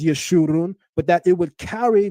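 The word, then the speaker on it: יְשֻׁרוּן: and it makes an oo sound. In the Masoretic text, they place the kibbutz vowel marker underneath this letter so that we would know how to interpret this properly, to not only pronounce it as Yeshurun, but that it would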